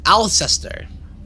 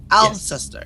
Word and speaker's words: Alceister: Alceister. That's how you say his name. Alceister.